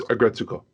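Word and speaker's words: Aggretsuko: season of, and it's Agretsuko. Gotcha. Okay. Unless I'm getting it very wrong, I think the emphasis is on the second.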